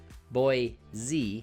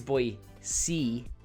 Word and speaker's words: Boise: short it's boise repeat after me boise not boy z it's boy c or boy c you know you see something